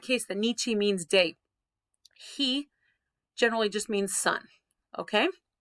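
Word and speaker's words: 日: the nietzsche means day he generally just means sun okay for right now i'd say he and nichi are the two main pronunciations has two of those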